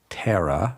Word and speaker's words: Thera: e r a by the way pronounced terra ra ra ra ra